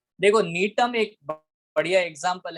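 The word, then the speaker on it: Gnetum: नीटम। नीटम, नीटम, जी silent है, okay नीटम। ठीक है, जी ओके साइलेंट है, नीटम, बहुत बढ़िया।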